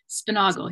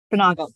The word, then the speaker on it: Spunaugle: And today it's my absolute pleasure to introduce this talk by Emily Spunaugle. Did I pronounce that right, Emily? I always worry I'm going to get it wrong. Spunaugle, yes. Spunaugle, great.